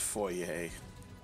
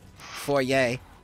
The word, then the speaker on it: foyer: It's pronounced foyer. It's French. Foyer. Maybe it's the American version and it's foyer.